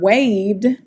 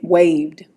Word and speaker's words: waved: All right, but in this word waved, it sounds like a D, waved.